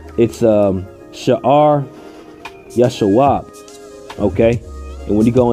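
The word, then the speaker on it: Shear-jashub: But when you go into this, when you pronounce that name in the Hebrew, it's Shear Yashawab.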